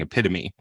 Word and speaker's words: epitome: But of course he was saying epitome.